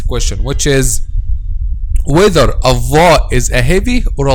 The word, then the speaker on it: ظ: Actually, when we pronounce letter dha, the back of the tongue is raised. So letter dha, it's a heavy letter.